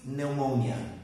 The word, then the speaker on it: pneumonia: pneumonia so in English in this word we do not pronounce the P so remember the P is a is a site we do not pronounce it so acute pneumonia acute pneumonia also we